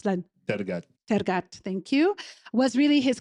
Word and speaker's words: Tergat: And his work on the Johnny Walker campaign, Walk with Giants, featuring Paul, how do you pronounce that? Tergat, thank you, was really his career crowning achievement up to that point.